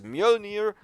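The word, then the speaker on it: Mjölnir: And there it is, Mjolnir. By the way, I googled for the original pronunciation, and this is the pronunciation because it's Nordic.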